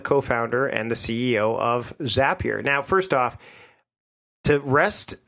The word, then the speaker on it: Zapier: So you are the co-founder and the CEO of Zapier. Now, first off, to rest all of the pronunciation to rest here at this point, it is Zapier, correct? Yes, Zapier makes you happier.